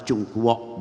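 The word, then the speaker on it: 中国: Dunia dari timur jauh, orang mengatakan Tiongkok, tapi dalam bahasa Mandarin ucapan Chungkwok, bukan Tiongkok.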